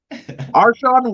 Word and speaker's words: Arshion: only oh man i the pronunciation of your name uh mr wade shawn arshawn wade there you go dude like i i